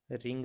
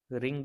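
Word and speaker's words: wring: रिंग the clothes, रिंग the clothes. यहाँ guys W silent है. इसे रिंग प्रोनाउंस करेंगे.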